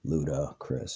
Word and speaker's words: Ludacris: So Luda Chris. So it sounds like the word ludicrous, but ridiculous.